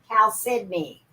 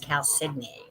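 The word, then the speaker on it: chalcedony: calcidoni that's that right cal sydney damn you cal sydney blue i worked on that one i always thought it was calcium too my mother corrected me and said no it's pronounced cow sydney if i look at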